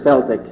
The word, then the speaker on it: Celtic: It's closer to what the word would have been pronounced in the actual Celtic languages.